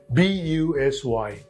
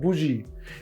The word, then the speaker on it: busy: sound for example busy b-u-s-y it is not Buji it is not Buzzy but it is busy next one b-u-r-y it